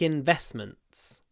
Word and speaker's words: investment: investor in investors make investments actually in investment we don't pronounce the T it uh it disappears Investments Investments next I